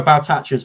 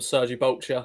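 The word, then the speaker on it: Sergei Baltacha: So Baltacha's mine. I like that. I like that. Of course, it was a running joke for a while. Of course, I said his name wrong. I called him Sergi Bolcher, and that became a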